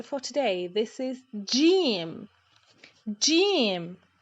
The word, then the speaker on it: ج: This is Jim. Jim. J, J, Jim. Jim is the counterpart of the English letter G in job, as in job, Jim, job, the same.